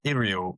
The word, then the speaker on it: Uriel: if you're Adam Troke, you're calling him Iriel, which I assume is the correct pronunciation because people at Games Workshop would know that. However, he's Uriel in my book, and that is where we're going to lie forevermore.